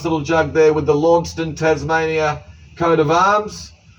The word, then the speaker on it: Launceston: jug there with the Launceston, Tasmania coat of arms. I know most of us say Launceston, but the place in Scotland with the same name's pronounced Launceston, so that's what I'm going with.